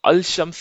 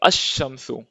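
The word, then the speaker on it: الشمس: जैसे अलिफ लाम है, हम अलिफ लाम लगाते हैं तो अल नहीं पढ़ेंगे, अल शम्स नहीं पढ़ेंगे, हम बोलेंगे अश शम्सु।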